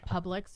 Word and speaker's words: Publix: you know it was Publix or did you like pronounce it wrong? Public. No. Publix.